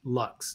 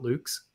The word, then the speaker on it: LUKS: It is, as far as I know, pronounced Lux, not Luke's.